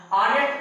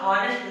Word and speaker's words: honest: ऑनेस्ट को हम हॉनेस्ट नहीं पढ़ेंगे, हॉनेस्ट पढ़ेंगे तो ये गलत हो जाएगा, क्योंकि H यहाँ पर क्या है, साइलेंट है, H को एकदम नहीं बोला जाता है, और जब H को नहीं बोला जाएगा तो हम इसको ऑनेस्ट पढ़ेंगे, और जब ऑनेस्ट पढ़ेंगे